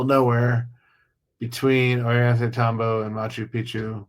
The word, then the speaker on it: Machu Picchu: nowhere between Ollantaytambo and Machu Picchu. Machu Picchu. Sorry, I got to pronounce it correctly because if you say it wrong, it means something completely different.